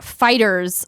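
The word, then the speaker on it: FighterZ: earlier kay bob says Dragon Balls game name is pronounced fighters like it's the 90s not fighters II they probably shouldn't capitalize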